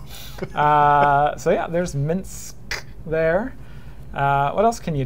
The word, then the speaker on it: Minsk: I always pronounce it Minx. I'm sorry. So yeah, there's Minsk there.